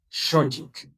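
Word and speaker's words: xochitl: Para los que van a leer shochit, la X es un sh como una sh. Esa es la pronunciación correspondiente de nuestra X. Shochik, shochik, shochik.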